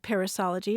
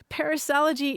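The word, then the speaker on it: perissology: no actually this is a terrific example of parisology it's spelled p e r i s s o l o g y study of Proverbs and sayings no no no parisology is a superfluity of words an overabundance of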